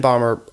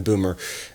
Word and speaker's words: Böhmer: do from the outset ben barber although i think it's pronounced ben boomer uh is one of